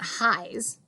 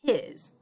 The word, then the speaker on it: his: it doesn't say hi it's not highs it's his i also see the word